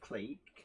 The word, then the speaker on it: clique: So Mark, clique as well, proper spelling of clique. If there's any Americans in, it's not click, it's clique. It's never been called click.